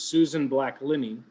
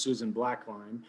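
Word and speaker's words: Susan Backlinie: Her name in real life is Susan Black-Linney, often mispronounced Susan Blackline.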